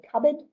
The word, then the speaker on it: cupboard: time is the word cupboard it is not a random PE that's been placed in there it actually has to do with um the origin of the word so the pronunciation has